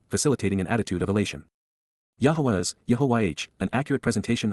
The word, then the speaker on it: Yahowah: Revering and respecting, Yada Yahowah, Yahowah, the proper pronunciation of YYV3, our Eloah, God as